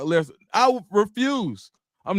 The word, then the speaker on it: Lesnar: Wright said, dude, I can't let you pronounce Brock's name like that. It's Brock Lesnar.